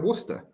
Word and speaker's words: Worcester: maths they call it worcester you know like like it would be w-o-o-s-t-e-r right how do you